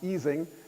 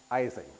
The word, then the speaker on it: Ising: had its revenge name which is correctly pronounced easing is almost universally mispronounced eing Okay, we'll get back to that I hope at the end of the talk.